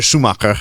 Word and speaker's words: Schumacher: Michael Schumacher, or Michael Schumacher, as his native tongue would have it pronounced, took Ferrari to extreme victories and extreme victories.